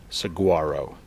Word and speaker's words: Saguaro: We are signing off from Saguaro National Park, because saguaro is spelled S-W-A-R-O. Saguaro.